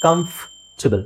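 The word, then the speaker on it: comfortable: ಬರುತ್ತೆ ಅದಕ್ಕೆ ಇಲ್ಲಿ ನೋಡಿ ಇಲ್ಲಿ ಕಮ ಅಂತ ಇದೆ ಎಫ್ ಆದಮೇಲೆ ಡೈರೆಕ್ಟ್ ಟ ಇದೆ ಕಂಫಬಲ್ ಕಂಫರ್ಟಬಲ್ ಸೋ ಕಂಫ ಬಲ್ ಓಕೆ ಇಲ್ಲಿ ಆರ್ ನೀವು ಹಾಕಬಹುದು ಬಟ್ ನಾನು ಸಜೆಸ್ಟ್ ಮಾಡೋದು ಏನು ಅಂದ್ರೆ ಆರ್ ಹಾಕಬೇಡಿ ಕಂಫರ್ಟಬಲ್ ಅಲ್ಲ ಕಂಫರ್ಟಬಲ್ ಸೋ ಇಲ್ಲಿ ಆರ್ ಅವಶ್ಯಕತೆ ಇಲ್ಲ ನೆಕ್ಸ್ಟ್ ನೋಡಿ ಏಳನೆದು ಬಹಳ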